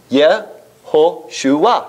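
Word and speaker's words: יהושע: If you see the name Joshua, it's going to be Yehoshua, right?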